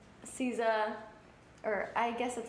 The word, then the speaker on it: SZA: I love, like, SZA, or I guess that's how you say it, SZA. SZA. Nobody knows how to pronounce it.